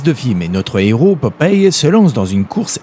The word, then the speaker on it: Popeye: Son surnom, qui se prononce en réalité Pop Eye, fait référence au fait qu'il a l'œil pour repérer les trucs louches.